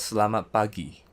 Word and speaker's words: Selamat Pagi: Next one is "Selamat Pagi" Same pronunciation to word "Selamat", while for "Pagi", "PA", use (A)IUEO "Gi" in "Pagi", use A(I)UEO In overall, pronunce as "SE-LA-MAT, PA-GI" "SE-LA-MAT, PE-TANG" If you'd remember